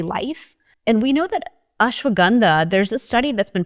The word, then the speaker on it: ashwagandha: And so even ashwagandha it's pronounced ashwagandha for us but in the general American sense we call ashwagandha here.